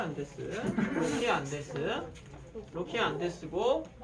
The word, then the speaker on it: 안데스: 잘데스가 아니라 안데스.